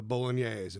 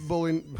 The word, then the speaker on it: bolognese: But man, portions were large for like I mean, often Italian portions can be, but I always like trying the bolognese.